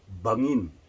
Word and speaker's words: bangin: And we call it this cliff bangin. Bangin in Tagalog. How do you spell that?